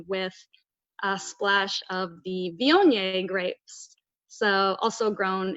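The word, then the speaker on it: Viognier: in Southern Maryland Saint Mary's County but the Vionnet which I like to emphasize the proper pronunciation of this grape variety because I often hear it mispronounced but Vionnet is beautiful aromatics it's a perfect wine to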